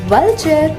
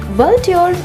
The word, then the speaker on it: vulture: वल्ट्योर इसका गलत उच्चारण है। इसे सही से बोलने के लिए पहले बोलें वल, फिर इसमें जोड़ दें चर। चलिए जोड़ते हुए बोलिए वल्चर।